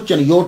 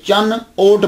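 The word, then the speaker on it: چنیوٹ: है वो चनियोट था, ये इसके प्रोनाउंसिएशन काफी सारे, चिन भी बोलते हैं, लेकिन ये असल बनेगा जो है ना मीनिंग के लिहाज से ये चन ओट बनेगा। तो चन ओट जो है, चन कहते हैं मून को, ओट कहते हैं बिहाइंड, तो चन योट बिहाइंड द मून, तो ये चन ओट होगा, फिर ये चिन योट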